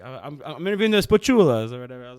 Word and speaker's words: Spachoolas: I'm going to say it wrong. Spachoolas. There you go. Sorry, I've been saying it wrong for days. No, it's right.